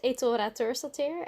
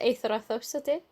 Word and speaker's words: Eythora Thorsdottir: Well, the Dutch version is Eythora Thorsdottir, and the Icelandic version is Eythora Thorsdottir. So it's a bit different, but yeah, I like both. It's just easier for the Dutch people to pronounce it that way than to try to do the TH thing, you know.